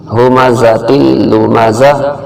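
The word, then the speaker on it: هُمَزَةٍ لُّمَزَةٍ: جائیں گے۔ ویل لکل ہمزۃ لمزہ، ہمزہ زا جو ہے یہ سختی والا حرف ہے، یہاں ذرا زور دے کے پڑھنا ہے، اور یہ ہا جو ہے یہ حلق کے آخر سے نکلتا ہے، ہمزۃ جو سینے کی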